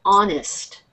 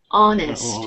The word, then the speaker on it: honest: h o n s we don't pronounce the h so it's just honest I yes honest yeah you don't pronounce